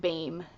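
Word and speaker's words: Behm: And yes, you pronounced Martina Bame's name like Bame.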